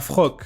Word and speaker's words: Floch: Et donc, là, on passe à Frock. Bon, je sais que ça s'écrit Floch, mais j'entends bien, ils disent Frock.